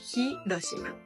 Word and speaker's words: Hiroshima: Y entonces por eso palabras como Hiroshima sí se dice la H Hiroshima en nuestra escuela de